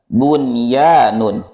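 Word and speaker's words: بنيان: pertama yang keduaalah bunyun perhatikan kembali di kata ini Nun bertemu ya kita tidak boleh membacanya dengan kita harus membacanya dengan jelas bunyanun yang ketiga adalahwanun di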